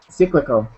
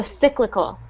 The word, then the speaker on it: cyclical: Cyclical. So that is pronounced just, again, instead of that E sound, it's I. So cyclical. Try that. Cyclical.